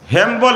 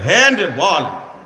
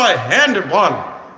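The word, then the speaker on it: হ্যান্ডবল: হ্যাম্বল না এটারে বলে হ্যান্ডব। এটারে উচ্চারণ করতে করতে এটা হই গেছে এটা? হ্যাম্বল। আসলে শব্দ হলো হ্যান্ডব।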